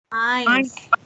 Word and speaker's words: eins: Eins. Betul. Eins. EI dibacanya AI. Betul.